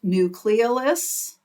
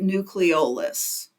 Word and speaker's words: nucleolus: it's called the nucleolus I have heard it pronounced nucleis but I pronounce it nucleolus and either one is correct and the nucleis